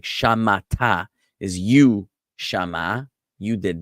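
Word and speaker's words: שָׁמַעַתְּ: So it would be, instead of like shamata is you, shama, you did that verb. For a woman, it would be shamat, just the T sound alone, shamat for feminine.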